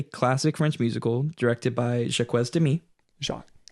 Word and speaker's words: Jacques: French musical directed by Jacques Demy Shaw also called your quiz because that's how it's spelled it's Jacques this is directed by